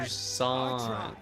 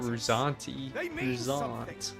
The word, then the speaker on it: Rous: tribe at its head Rous that's how you pronounce it not rousan you could stray from